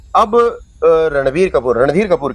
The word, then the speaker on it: रणबीर: मतलब जी यहां एक चीज और मैं रणबीर और रणवीर लोग दोनों सिमिलर मान लेते हैं। प्रोनाउंसिएशन में फर्क होता है। तो लोग कई बार रणवीर सिंह और रणबीर कपूर दोनों के बारे में बात करते वक्त जो है रणवीर इस्तेमाल करते हैं। जबकि ये रणबीर हैं।